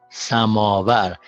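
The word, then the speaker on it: سماور: And now this one occurs at the beginning of the third syllable. So it's pronounced b, b, b, and not u.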